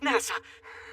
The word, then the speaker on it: Nasa: is nasa yuzuki written as story sky but pronounced nasa well this is impressive such serious injuries and